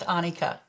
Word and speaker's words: Annika: My first name is pronounced Annika.